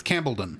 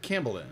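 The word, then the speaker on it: Campellon: arc campbellon Arc Camp I said it wrong last week but it's campon campbellon like Wimbledon oh Wimbledon yeah that makes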